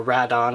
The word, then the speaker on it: Rodan: the SH monsterarts fyor Rodan or rat on if you go by how the movie pronounces it and the revoltech show